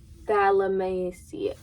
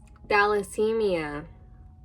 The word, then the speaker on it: thalassemia: That looks like Tallahassee. Of how all of these that I'm looking up have pronunciation. Thalassemia. Wow. Thalassemia. Sickle cell disease and thalassemia.